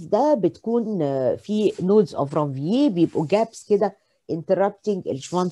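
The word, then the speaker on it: Ranvier: الكلمات الفرنش الار في النهايه بعد الفاول ما بتتنطقش، فعشان كده انا قلت رانفييه.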